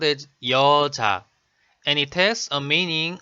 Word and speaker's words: 여자: For example, the word 여자 is made of syllable 여 and syllable 자, sound as 여자, and it has a meaning of a girl or a woman.